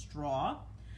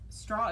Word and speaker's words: Stra: I think it's supposed to be pronounced straw.